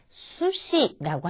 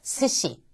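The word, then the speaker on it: すし: 스시라고 하는데 이때 수시라고 하지 않고 스시.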